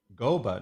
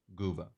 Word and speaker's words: Gooba: Goba. No. Gooba. I already made a canon pronunciation, so.